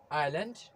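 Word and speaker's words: aisle: Letter S उन्हीं तमाम word में साइलेंट होता है जब लेटर एस के बाद लेटर एल आ जाता है। फॉर एग्जाम्पल आइलैंड, आइल। इन्हीं दो वर्ड में भी लेटर एस साइलेंट है।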